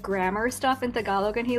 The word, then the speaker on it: Tagalog: I've pardon me, but I've said it as Tagalog. Yeah. I know that's very Americanized. It's okay. But is that like the correct pronunciation, or Tagalog? Yeah, the emphasis is on the second syllable. Tagalog.